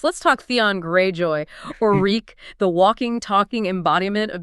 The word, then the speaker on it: Reek: Being Reek, the fear, the rhymes, reek, it rhymes with sneak, the pleading.